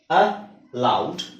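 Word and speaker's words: aloud: ಇರುತ್ತೆ ಇಲ್ಲಿ ನೋಡಿ ಉದಾಹರಣೆಗೆ ಅ ಲೌಡ್ ಅಲೌಡ್ ಅ ಲೌಡ್ ಅಲೌಡ್ ಇವೆರಡಕ್ಕೂ ಒಂದೇ ಉಚ್ಚಾರಣೆ ಅಲೌಡ್ ಅಲೌಡ್ ಸೋ ನೋಡಿ ಉಚ್ಚಾರಣೆ ಒಂದೇ ಇದೆ ಅಲೌಡ್ ಸ್ಪೆಲ್ಲಿಂಗ್ ಬೇರೆ ಇದೆ ಸೋ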